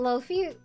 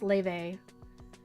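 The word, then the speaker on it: Laufey: soah I wish you I thought Loy okay do you guys know the the musician l a u f y I didn't apparently it's pronounced Le I I don't understand I don't understand languages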